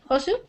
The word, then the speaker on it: Josu: So how do you say your name? Josu? Josu. Yosu? Okay, Yosu. Yes.